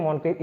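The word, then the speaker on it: Moncrieff: अब ठीक है, मॉनक्रिफ हो, इसको ओ प्रोनाउंस करते हैं मॉनक्रिफ।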